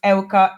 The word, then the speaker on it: Euka: everything yeah Facebook you can find is spelled like one like don't one foreign ITA and in my last name is Elka EU ka so if you type it in